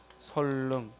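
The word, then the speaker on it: 선릉: 따라서 설릉의 발음은 선능이 아니라 뭐라고 발음해야 돼? 설릉.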